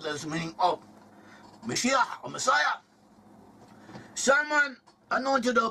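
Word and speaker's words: מָשִׁיחַ: In Hebrew, the word Messiah, pronounced in one Hebrew, Mashiach. Mashiach is someone anointed, someone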